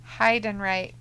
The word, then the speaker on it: Heidenreich: That name is pronounced Heidenreich.